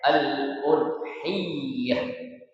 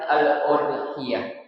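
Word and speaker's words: الأضحية: Jadi kata atau kalimat udhiah ya itu bertasydid. Jadi dibacanya aludhiyah ya bukan al-udhiah tapi aludhiyah.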